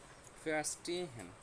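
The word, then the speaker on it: verstehen: তো এটাকে আমরা একটু তিন ভাগে ভাগ করি, ভাগ করে তারপর করি। প্রথমে কি ফেয়ার, তারপর হচ্ছে স্টে, তারপর হ্যান। ফেয়ার স্টে হ্যান, যেহেতু এটা একটু বড় ওয়ার্ড, এটাকে আমরা তিন ভাগে ভাগ করলাম।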